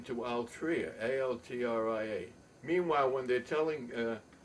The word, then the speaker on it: Altria: So they changed their name to Altria, A-L-T-R-I-A, but I spell it Altria. I'll try and fool you.